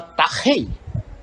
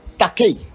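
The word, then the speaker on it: τάχει: Então você tem que falar tachei, e não takei, né?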